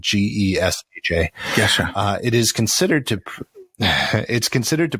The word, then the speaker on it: Gesha: Geisha is a variety of coffee believed to be originated in the Geisha village in Ethiopia. And it's not geisha like the Japanese geisha. Yes. It's spelled Gesha.